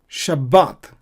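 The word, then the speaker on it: שבת: So here we have a Qamats and so we pronounce A, long sound. Shabbat. But I'm pronouncing B double, like I'm doubling the B just like as in English. Sabbath, Sabbath. But two B's are there. Similarly, we pronounce in Hebrew Shabbat because of the Dagesh. Why? Because there is a vowel sound before the Bet.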